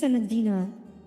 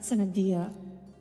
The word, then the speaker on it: Senadina: wait, her name is Senadina, not Senadia.